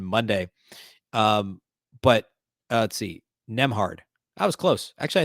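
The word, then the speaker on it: Nembhard: um but let's see nem hard that was close actually I think I had it right I just pronounced the B so it's a silent B andrewhard um he uh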